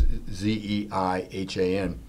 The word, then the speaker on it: Zeihan: I believe I pronounced his name. It's Zeihan.